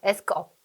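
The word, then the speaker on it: AskUp: S컵. S컵인데 이 회사에서는 아수겁이라고 이제 부릅니다. 네네. 발음하기 아수겁, 편하게.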